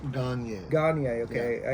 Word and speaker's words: Gagnier: here with Grandmaster Gagnier. Did I pronounce that right? I always feel like I butcher it. I'm not the shampoo. Yeah. It's Gagnier. Gagnier. Gagnier. Gagnier. Okay. Yeah. A little bit French.